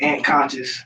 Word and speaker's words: Ant Kan$cious: official stage name is ant conscious it's a play on my government name my mother named me Anthony Thomas so and conscious rhymes with ant Congress when I was in